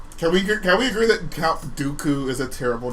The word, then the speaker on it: Dooku: Sounds like doo-doo. Yeah, there you go. Or Dookie. Well, okay, I grew up with the German pronunciation of Dooku.